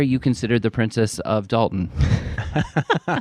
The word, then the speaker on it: Dalton: I know most people pronounce as Dalton, not Daltton. It's Dalton. There's no It's Dalton like mountain.